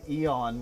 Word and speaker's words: Eon: it a night gang this group is called eon which is pronounced everyone and they have they